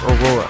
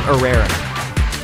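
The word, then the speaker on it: Irrera: met Dom aera Dom Aurora I I said his name wrong it's Dom arera well D arrera is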